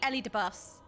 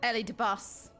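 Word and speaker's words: Elidibus: to survive the sundering Ellie de bus yes that's what I said I pronounced it the same Ellie de boo I agree Eddie boo xenos had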